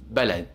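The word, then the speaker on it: بلد: If we look at the word Balad, which means country in Arabic, notice how we pronounce the letter B in this word. We pronounce it as B. So it's Balad.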